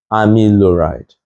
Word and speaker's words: amiloride: But if you take your time, you see that it's pronounced as spironolactone and amiloride.